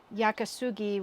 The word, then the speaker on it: Yakisugi: Traditional Yakisugi, which is the Japanese way of pronouncing it, they actually char the wood pretty good.